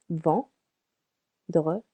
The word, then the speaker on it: vendredi: Vendredi, 3 syllables. Vendredi, vendredi, Friday.